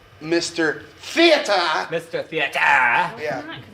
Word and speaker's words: Mr. Theater: It's pronounced Mr. Theater.